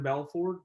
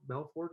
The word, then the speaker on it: Belfort: um a guy named jordan belford belfort i think is how you say his name he's the guy that